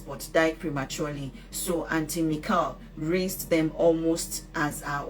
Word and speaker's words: Michal: Michal, pronounced as Michal with a very soft K, is the Hebrew female version of Michael.